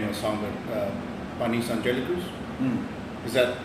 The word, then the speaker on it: Panis Angelicus: And I may, butcher the name of the song, but Panis Angelicus? Mm. Is that how you pronounce it?